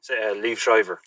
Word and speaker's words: Liev Schreiber: I never pronounced that man's name. Say it again. Liev Schreiber.